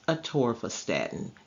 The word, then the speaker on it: atorvastatin: It is pronounced atorvastatin, and the brand name for atorvastatin is Lipitor.